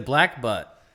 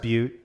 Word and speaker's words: Butte: west coast yeah the black butt yeah uh it's pronounced butte but that's fine uh it's black beaut it's a triple x iii which also is the 33.